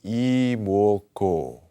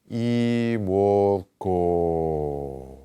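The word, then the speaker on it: 이뭣고: In our minds, we ask, 이모고. And we take that last syllable, G-O, and we extend it all the way to the end of the breath.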